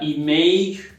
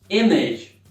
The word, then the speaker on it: image: Não diga image, e sim image.